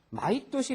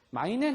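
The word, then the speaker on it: 毎年: 마이도시 랭기이 대신에 마이또 이거 읽는 법을 좀 조심을 해야지 돼요 매년 우리는 마이 이렇게 읽어도 되는데 있잖아요 마이앤 하면 그 좀 발음하기도 껄끄럽고 다른 말하고 혼동되기도 쉽기 때문에 우리는 마이 도시라고 있습니다 거 마이도시 마이도시 다난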